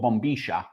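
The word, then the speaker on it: bombilla: And then you drink it out of a straw which is called a bombia. In Spanish it's called bombisha.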